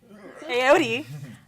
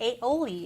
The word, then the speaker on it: Aodi: Well, I even mispronounced my own name. Aodi. Which I'm surprised no one's called me Aoli yet, so we're good.